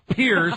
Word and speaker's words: Piers: that's Morgan Freeman no this is Pierce like Chelsea Pier Morgan Morgan who the